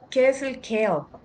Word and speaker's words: CAEL: tenemos los exámenes Ana Qué es el bueno creo que se pronuncia así como el vegetal pero se escribe c a e l es el examen académico